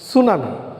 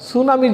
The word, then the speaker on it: tsunami: সুনামিটা হচ্ছে TSUNAMI, সুনামি। এইখানেও কিন্তু টিটা অপ্রাসঙ্গিকভাবে চলে আসছে, ঠিক সাইকোলজির পি এর মতো করে।